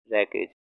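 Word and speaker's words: wreckage: ठीक है ना, रैकेज, डब्लू साइलेंट है इसमें, रैकेज।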